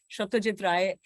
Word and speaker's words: Satyajit Ray: Satyajit Ray, Bengali pronunciation hai unka. So that's when I first got to know that there was this great filmmaker.